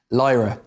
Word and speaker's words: Lyra: human she's like will you pronounce will you pronounce her name for me again lyra lyra that's beautiful i mean yeah in your